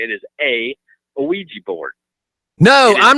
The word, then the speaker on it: Ouija: And the way, Yes, sir, pronounced Ouija.